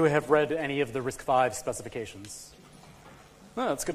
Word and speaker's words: RISC-V: you were aware that risk five is actually pronounced risk five and not risky it's actually pretty good okay all right how